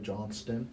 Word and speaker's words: Johnston: You got to say his name right, Johnston.